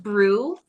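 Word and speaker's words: BRUE: And they called it brew. Uhhuh. So brew is spelled.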